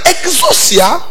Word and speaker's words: exousia: Maintenant, exousia, ça s'écrit E-S-O-X-O-I-S-I-A.